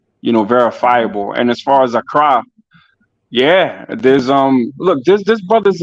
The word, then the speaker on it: Accra: Accra. That's how you say it.